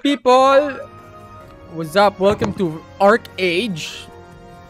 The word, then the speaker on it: ArcheAge: what's up welcome to art age or arch age you know the right pronunciation ArcheAge you can exert discord so